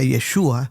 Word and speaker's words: Yeshua: Jesús, que en hebreo se pronuncia Yeshua, significa Yahvé salva, un nombre cargado de esperanza para Israel.